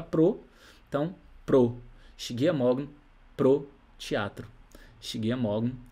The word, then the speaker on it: morgen: especificamente sem essa letra E aqui, porque na pronúncia fica justamente assim, morgen, morgen, morgen, não fica morgen, entendeu?